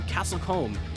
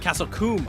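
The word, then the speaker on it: Castle Combe: to be going to castlecomb in the United Kingdom with the teeth correction I have a correction on the pronunciation it's pronounced Castle coomb okay my apologies thank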